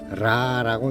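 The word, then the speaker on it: רע: 악은 라라고 읽는데요. 히브리어 라.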